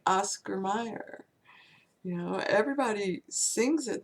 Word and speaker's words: Mayer: phonetically they don't understand that the a is a short name and with the Y it sounds like ah my Mayer and everyone knows that